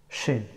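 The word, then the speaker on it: شين: Shin. The letter of shin pronounced from center of the tongue and straight up. Sh, sha, shi, shu.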